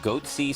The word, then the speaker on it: Goatse: and they're getting the goatse picture they're called goatse security is that my pronouncing that correctly yeah that's right we're analyzing